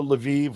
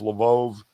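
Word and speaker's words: Lviv: kiev they went to la viv levove however you want to pronounce it depending on what side you're on um for that weekend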